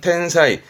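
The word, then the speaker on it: 天才: 발음은 텐사이.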